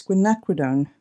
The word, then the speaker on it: quinacridone: ultramarine not ultramarine um magenta always say that wrong it's quinacridone magenta is the proper way to say it and typically just